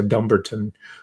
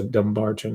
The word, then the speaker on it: Dumbarton: i looked it up in scotland it's uh dumberton but in american english it's a dumbarton i believe and um